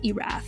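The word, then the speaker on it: Erath: wamit Valley was Dick irra and just in aside here in case you're curious that's spelled e r a t h kind of like Earth just mooved that R up a little bit earlier so within the Oregon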